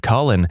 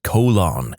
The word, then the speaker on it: Colin: Conversely, I went to high school with a kid named Colin, and our physics teacher constantly pronounced it colon.